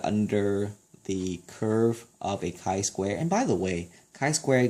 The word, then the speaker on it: chi-square: It looks like the letter x squared, but it's actually pronounced as chi-square.